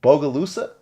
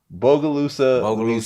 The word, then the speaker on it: Bogalusa: so you're actually from tell me if i pronounce this right bogalusa that's perfect i swear like you you're the first person to actually pronounce it right bogalusa louisiana right small city right i guess it's